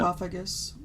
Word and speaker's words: sarcophagus: Sarcophagus, which is pretty amazing. It's pronounced sarcophagus.